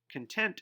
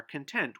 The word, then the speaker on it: content: Content is an adjective meaning pleased with or accepting of, not wanting anything else. Our neighbors are content with their new home. The word can also be pronounced content if it's a noun. That means an amount that is held or contained, the meaning or subject of. The content of that book